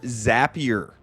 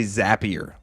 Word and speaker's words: Zapier: Then I used what's called Zapier or Zapier. You never know online how you're supposed to pronounce things. I think they're Zaps, so I'm going to say Zapier.